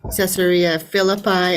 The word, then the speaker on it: Caesarea Philippi: so how do you spell how do you pronounce that Sarah Phillipi yeah so caesarea Philippi and then Galilee that was this is kind